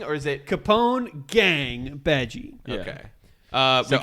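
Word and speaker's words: Bege: I hate to pronounce it this way because I do say it beige either way. It's Beji.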